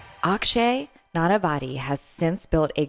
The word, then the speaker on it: Akshay: Did I pronounce it right? Akshay.